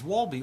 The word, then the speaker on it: Wolbe: Because there's no W in Hebrew, right? Even though it's spelled in English and in German, where it originates from, it was with the W, but it's Vav, Vav, Lamed, Bet, He.